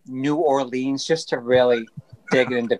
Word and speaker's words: New Orleans: Nolans. I say Nolans. Sometimes I really just like say New Orleans just to really dig into people, you know.